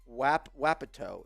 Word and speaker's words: Wapato: He says, Wapato is how you say it. I don't know how else to say it. Wapato? Wapato. I like Wapato. Wapato. Wapato. Wapato. No, you're putting too much emphasis on the wa.